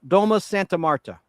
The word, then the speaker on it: Domus Santa Marta: Domus Santa Marta.